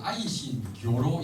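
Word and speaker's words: Aisin Gioro: 아니고 어 아이신 교로 아고 조로는 예신 강를 아이신 교로 이렇게 발음을 하는데 어 아이싱 하는 것은 쇠를 말하고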